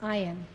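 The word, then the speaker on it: אַיִן: unfold that spelled a yn but it is pronounced I on they saw the ion unfold step by step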